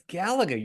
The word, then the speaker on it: Galaga: How do you know how it's pronounced? Galaga. Galaga. I don't know. It's Galaga, you freak.